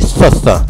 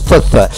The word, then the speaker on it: Thoth: À pas confondre avec Soch, c'est Soth. Encore plus dur à prononcer, hein. Soth, Soth.